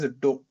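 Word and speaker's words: ∂: So the symbol, this thing is written as dou, dho. That is how it is pronounced.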